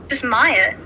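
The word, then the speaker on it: Myha: Just Maya. Maya. What's the difference? And everyone's like Maya. Like they pronounce the H.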